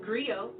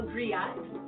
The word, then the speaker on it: griot: A griot It's pronounced griot, or in English, a griot.